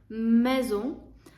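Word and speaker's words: maison: будинок або дім МЕО одна с і читається як з мезо але в французькій мові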